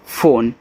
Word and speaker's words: phone: PHONE फोन, अब देखो फोन एक इंग्लिश वर्ड है, तो यहाँ PH से आपका फा बनेगा, O से O की मात्रा फो, यन से ना, लास्ट वाले ई का उच्चारण आपको नहीं कहना है।